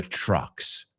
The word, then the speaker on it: truck: And truck rhymes with luck, suerte, suck, chupar, puck, lo que se usa en el hockey, right? And of course, fuck.